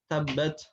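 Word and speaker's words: تبت: kita malah membaca dengan tabbat, tabbat. Terdengar ya? Tabbat. Nah, harusnya dia hanya keluar nafas saja. Tabbat, tabbat begitu. At, at, tidak sampai at.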